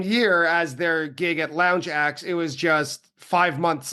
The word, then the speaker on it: Lounge Ax: Their first Chicago gig was at a small bar called Lounge Axe and it's spelled Ax as in the the tool but obviously it's a play on words as in Lounge Act.